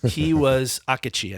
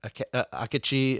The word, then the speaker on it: Akechi: He was Akechi, I think is how it's pronounced.